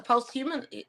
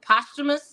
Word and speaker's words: posthumous: no but it's a post-human uh poster posthumous is how you pronounce that posthumous type of gesture